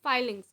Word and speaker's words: filings: Iron fillings no sorry it is not called fillings it is called filings. Okay filling means when you are filling something filings is something which is good which is the correct pronunciation. Okay. So iron fillings you never you have to say iron fillings always you have to say iron filings.